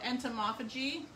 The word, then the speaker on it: entomophagy: So entomophagy.